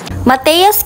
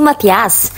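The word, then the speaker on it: Matthea's: ano pa mana dagos mateos kinalas pala ang tamang pronunciation mga kabas Hindi mattias maya-maya malalaman niyo ang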